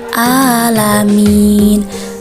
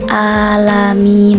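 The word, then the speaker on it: العالمين: sering ditemukan itu membacanya alamin padahal huruf Ain itu keluarnya dari tengah tenggorokan jadi bacanya bukan alami tapi alami Alhamdulillahi rabbil alamin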